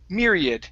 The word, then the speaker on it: myriad: The last one here is myriad. Stress at the very beginning.